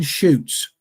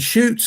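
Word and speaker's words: Chutes: Quebec Quebec Canada and shoots is spelled c hu Tes the Beast of seven shoots CH hu Tes and you can you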